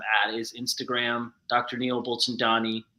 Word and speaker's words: Bulchandani: is Instagram Dr Neil bullin Donnie buchin Donnie is how you say my last name um bull Chan Donnie is usually so I slow down yeah it's like